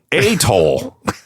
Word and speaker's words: Athol: Is that often is pronounced as Athol. But locals emphasize the first syllable with a quick, soft ending.